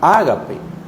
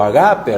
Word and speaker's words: ágape: Fue así que tomaron la palabra ágape o agape, algunos yo los he escuchado pronunciarlo así.